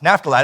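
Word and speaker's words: Naphtali: know if I said it right NAFTA lie NAFTA lie that's it from now Kadesh NAFTA lied and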